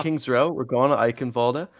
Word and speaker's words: Eichenwalde: And it looks like we're doing Eichenwald. Yeah, it looks like that's the initial pick from Both Shenandoah. teams not fully knowing how to spell it. And discussing the pronunciation, it looks like it's Eichenwalde. So there we have it.